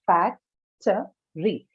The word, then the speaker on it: factory: Similarly, in factory, you have factory, but the stress certainly is not on the second syllable here, because t has an unstressed schwa in it.